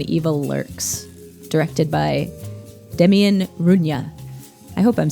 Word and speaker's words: Rugna: Tonight we are talking about Argentinian export when evil lurks directed by Demian Runa. I hope I'm saying that right. How would you pronounce it?